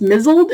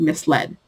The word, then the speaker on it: misled: I did not in my head it is pronounced missiled and it means vaguely confused I even have my own definition for it in my head I cannot read that word and hear the word misled just can't and apparently I've been pronouncing mobile